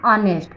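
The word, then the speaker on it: honest: अब एन ऑनेस्ट, इसमें भी एच साइलेंट है और इसका प्रोनंसिएशन क्या है, ऑनेस्ट, यानी अ से शुरू हो रहा है, ऑनेस्ट।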